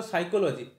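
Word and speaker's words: psychology: রাখতে হবে যেমন ধরো সাইকোলজি মানে যে পি থাকে পি টা কিন্তু তুমি যতই উচ্চারণ করো সাইকোলজি সেখানে কোথাও পি নেই প এর কোন জায়গা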